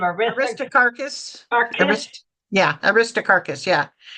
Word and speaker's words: Aristarchus: Aristarchus.